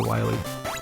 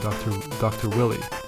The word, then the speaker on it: Wily: So instead of Wily, I used to call him Dr. Willy.